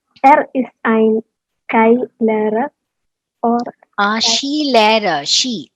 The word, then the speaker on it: Skilehrer: Vielleicht er ist ein Skilehrer oder Skilehrer. She. SKI is how we say it is like she. That's how we pronounce it.